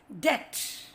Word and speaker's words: debt: A silent B occurs after M and before T, both the ways. Lamb, thumb, bomb. And this example talks before T, that is debt.